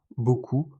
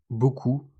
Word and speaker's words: beaucoup: Temps, beaucoup, doigt. Regardez toutes ces lettres, mais écoutez la prononciation. Temps, beaucoup, doigt. Vous voyez, beaucoup de lettres sont juste des traces du passé.